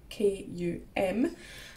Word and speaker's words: Kum: It's spelled K-U-M and pronounced Kum, and it's made in Germany.